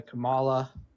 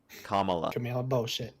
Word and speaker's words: Kamala: And I'm sick of the Camala Camela. Kamala.